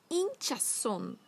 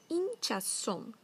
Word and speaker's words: hinchazón: Hinchazón. Hinchazón. São os inchaços. Se escreve com H, com Z, com N no final.